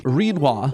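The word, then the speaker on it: Rinoa: Reininoa. It rhymes with quinoa.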